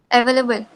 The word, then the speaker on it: available: you can see here this starting and uh this is what we call as a schwa okay okay so available